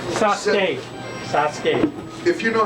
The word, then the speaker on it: Sasuke: Next on the list, Isabel Park as Sesu. Sasuke.